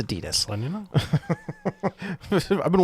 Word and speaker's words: Adidas: Like Adidas is the sponsor for the NHL, so all of the gear Do with you know it's pronounced Adidas? it's okay. It's Adidas.